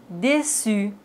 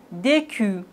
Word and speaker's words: déçu: Mais s'il n'y a pas de cédille, on doit les prononcer comme ça. Franquet, garcon, facade, décu. Mais on a la cédille, donc on doit dire français, garçon, façade, déçu.